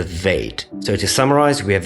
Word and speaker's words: Veit: And the one with the dot or the dagesh is called the BEIT, and without it's called the VEIT.